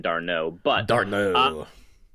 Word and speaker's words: d'Arnaud: to me about catcher Travis Dan Arnaud right is that how you pronounce it I'm not as familiar with him because I don't go as deep into baseball as you you do but tell me what you think about catcher there um I'm Billy actually it's pronounced I believe d'Arnaud but dart knows it's